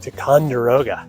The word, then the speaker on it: Ticonderoga: blakney and I am at Fort tatangaroga titungara Ticonderoga that's how you say it uh this fort was